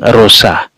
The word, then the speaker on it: Rosa: pesta para Kudus Santa rusa dari viterbo silahkan ya di beberapa tempat nih bacanya Rose ya tapi di beberapa tempat memang rusa Silahkan Bapak Ibu beri